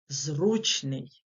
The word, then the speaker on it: зручний: Думаю ви здогадалися що наголос на перший склад падає у слові зручний тому що далі проміжок